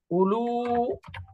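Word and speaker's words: أولو: আরেকটা বহুবচন হয় উলু উলু দেখেন উলু লিখলেও একটা হামজার পরে একটা ওয়াও থাকবে বাকি ওয়াওটা উচ্চারণ হবে না পড়তে হবে উলু উলু এই জাউ এবং উলু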